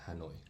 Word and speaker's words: Hanoi: How do you pronounce it? Hanoi? Yes, Hanoi.